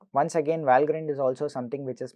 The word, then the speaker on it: Valgrind: In fact, there is a series of tools called Valgrind. Apparently it's pronounced Valgrind and not Valgrind, which is primarily sort